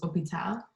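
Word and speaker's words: hôpital: dropped in pronunciation so some examples for the h there's hospital which is opital to just get rid of that h sound because the h in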